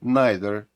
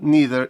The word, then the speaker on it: neither: важливих слова англійської мови nither і either або neither і either вибирайте самі як ви бажаєте їх вимовляти ми дізналися як і